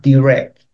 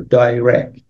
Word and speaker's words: direct: the word chair then we have direct or direct based on how you pronounce it and again that's